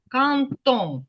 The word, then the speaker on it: quand on: Оце де Quand on, перед голосною, воно вимовляється як т. Кантон.